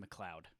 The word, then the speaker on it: MacLeod: make any sense but m-a-c-l-e-o-d is pronounced mcleod really mcleod yeah i